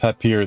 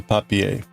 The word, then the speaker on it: Papier: It's German, so, but I mean, it's not, it's pronounced papier then, as opposed to papier, which would be the French pronunciation.